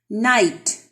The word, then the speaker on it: night: Night. G and H are silent.